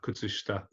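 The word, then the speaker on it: 靴下: The sh in shita, kutsushita, it's quite a clearly pronounced sh. So it's kutsushita, kutsushita. Kutsushita. Yes. Good. Kutsushita. Kutsushita. It's like Polish.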